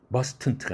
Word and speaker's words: mustn't: 이럴 때 발음은 어떻게 합니까? mustn't입니다. 이것도 고정입니다. mustn't가 아니라 mustn't. 뭐 이것이 떼어져서 썼다 하더라도 must not 이렇게 두 단어로 썼다 할지라도 단어 사이에 경계가 있다 하더라도 t는 날아갑니다.